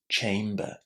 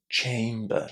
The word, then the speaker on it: chamber: Chamber. Chamber. With the nice A inside. This is difficult sometimes to remember for learners. Chamber.